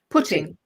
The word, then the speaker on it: Putting: so my first guest is the amazing or putting how do you say your surname putting oh great uh so why don't you